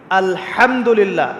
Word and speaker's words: আলহামদুলিল্লাহ: আলহামদুলিল্লাহ। এই হা এর মাখরাজ কোথায়? হা এর মাখরাজ কোথায়? বলেন একজন কন্ঠনালীর মাঝখান থেকে এখান থেকে আপনি উচ্চারণ করছেন আলহামদুলিল্লাহি রাব্বিল আলামিন অর্থ